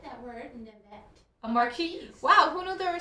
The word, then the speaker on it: marquise: So this marquee design ring is number 5. Marquise is my new vocabulary word today. Thank you, everybody. I don't think you pronounce the S because it's French.